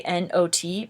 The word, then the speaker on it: not: This one, they both say N-O-T, but this one has an E at the end, which is why you say O instead of ah. So this is pronounced not, and this is pronounced note.